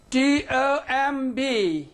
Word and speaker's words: tomb: At the end of a word. End of a word. And then it is silent.